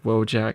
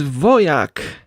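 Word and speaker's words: Wojak: I I know that it's just a stupid meme, but whenever I hear like wojack, I'm like, "Oh, dude, that's not that's not how it's supposed to be pronounced. It's voyak as in like a voyik like a fighter."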